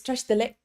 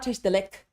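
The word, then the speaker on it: བཀྲ་ཤིས་བདེ་ལེགས: definitely sounds weird because in Tibetan, it's tash dalek, it's not tash dalek. Why? Because in Tibetan, when the consonant ends, it is done. When the syllable ends, it is finished. So what ends up happening is these sounds almost get swallowed.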